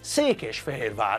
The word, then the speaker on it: Székesfehérvár: We know that Székesfehérvár is pronounced as Székesfehérvár, and it's not pronounced as Székesfehérvár or Székesfehérvár or Székesfehérvár or Székesfehérvár.